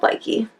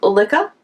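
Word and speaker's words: Lykke: It's not called Likey. No. It's called Lika?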